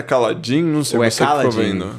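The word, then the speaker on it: Kaladin: A pronúncia certa é Caladin. Não sei você ficou vendo, não sei. Eu vi bastante gente falando Caladin.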